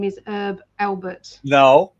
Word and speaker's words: Herb: so this this is herb with a an h that you pronounce herb albert and the t that